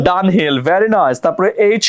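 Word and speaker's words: Dunhill: ডি ইউ এন এ এইচ I double L done হিল done হিল very nice তারপরে এইচ ই আর এম ই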